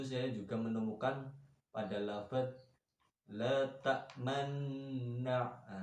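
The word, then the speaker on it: لا تأمنّا: La ta'manna itu namanya bacaan ismam, yang mana asal kata dari lafaz la ta'manuna. Di situ ada nun bertemu dengan nun. Maka di situ ada istilah bergandengan dijadikan satu. Makanya membacanya itu kayak rada anak moncong-moncongnya, kayak anak huruf wawu ya. La ta'manna. La ta'manna ada dengungnya, terus dimoncongkan. Ya, itu bacaan ismam.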